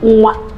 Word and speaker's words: nwa: So it is pronounced as we. And you have it in Igbo words like onwa. That means temptation. Even the very simple word you hear every day, nwa, a child.